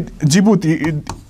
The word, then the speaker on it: Djibouti: the djibouti or see djibouti it is written like this it starts with d but it is pronounced as the g right djibouti see these are the